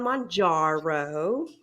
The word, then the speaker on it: Mounjaro: But I am on Mounjaro. I have been saying it correctly, not like a good old Midwesterner.